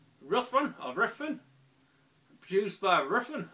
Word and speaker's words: Ruffian: in this one and from pronouncing it right it's rough run are referred used by